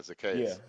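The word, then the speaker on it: Zaccheaus: I heard them pronounce it Zacchaeus. on TV. Yeah, Yeah. Zacchaeus.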